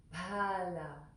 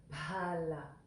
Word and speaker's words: Phalā: And the next word, Phalā. So there's that H after the P. So that's one letter, and it's pronounced with a puff of air. Pa, pa, pa. So it's Phalā, Phalā.